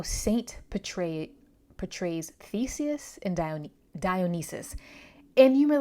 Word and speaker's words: Dionysus: um and also Dionysus because I said that mispronounced his name earlier is Dionysus because I actually think